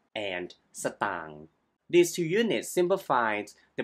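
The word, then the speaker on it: สตางค์: see ST ตัง ST ตัง Stop ตัง ตัง is a cal term for money you often Used in informal Speech so you can pronounce stang as stang or Simply ตัง and the word เงิน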